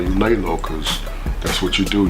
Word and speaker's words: Leylo: magazine exclusive interviews well my name is uh I call myself filmmaker lay low uh lay low is spelled l-e-y-l-o are living every year